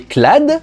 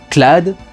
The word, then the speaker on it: Cloud: dans les années 90, tout le monde l'aurait appelé Clou. Donc Clad, par rapport à Cloud, ça me paraît pas si mal au final. Puis si on avait gardé la prononciation japonaise, ça ferait Clodo, alors bon...